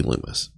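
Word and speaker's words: Lummis: being senator lumus loomis it's spelled like lummus but it's gotta be loomis okay what is wrong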